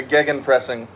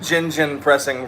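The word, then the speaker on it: Gegenpressing: Anyway, the OG's on the channel will remember when I first reacted to gan pressing. I uh I mispronounced it gingen pressing for the entire reaction.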